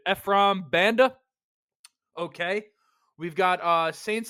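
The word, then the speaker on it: Ephraim Banda: the brown safety coach ffr Ben I mean that butchered it Efram Banda okay we've got uh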